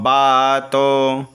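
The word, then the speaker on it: वातो: देखेंगे यहां से तन्नो बातो तन्नो बातो व को अगर मैं ब बोल रहा हूं तो यहां पर समझिए वेद में डबल व दिया हुआ है इसलिए इसलिए इसका उच्चारण ब होता है तन्नो बातो मयो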